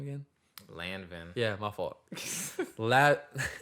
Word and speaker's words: Lanvin: And I was just like, bro, these, how you pronounce the name again? Lanvin. Yeah, my fault. Lanvin.